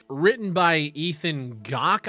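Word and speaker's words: Gach: not written by ethan gawk i believe is how you pronounce it the headline reads controversial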